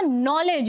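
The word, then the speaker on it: knowledge: नॉलेज। यहाँ का जो ये केस साइलेंट बोलने में है लेकिन लिखने में साइलेंट नहीं है, लिखने में ये लिखा जाएगा नॉलेज इज एवरीथिंग।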